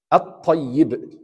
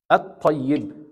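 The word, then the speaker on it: الطيب: How should you say this word? At-tayyib. At-tayyib. Right? Why? Because number one, there is no sukun here. Right? And the next letter have shadda. And it's one of the letters that refers to the hidden or al-lam al-shamsi.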